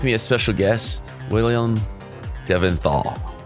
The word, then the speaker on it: Delventhal: My name is Willem Delventhal, or Delventhal. We were just joking about how there's a fight in the family about which is the correct pronunciation.